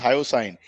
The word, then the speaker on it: hyoscine: So can you tell me what is hyoscine? It's pronounced hyoscine.